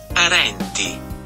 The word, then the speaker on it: Arenti: Arenti.